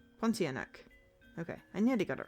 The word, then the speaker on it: Pontianak: Oh, silent R in pawn. Pontianak. Pontianak.